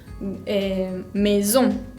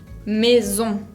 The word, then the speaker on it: maison: Por ejemplo, maison, maison, que significa casa. Maison. En esta palabra tienen la combinación A con I, que se pronuncia E, esa S, que es como la Z de un moscardón, y la ON, que es una nasal, que se pronuncia ON, sin pronunciar demasiado la N.